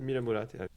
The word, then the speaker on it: Mira Murati: Mira Murati.